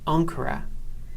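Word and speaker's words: ἄγκυρα: This next Greek word is pronounced ankura. And as before, the sound of gamma has changed from a g to a n sound.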